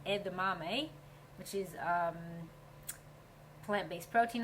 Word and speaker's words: edamame: What they say about this, it's if you don't know how to pronounce it, it's pronounced edame, which is um plant-based protein.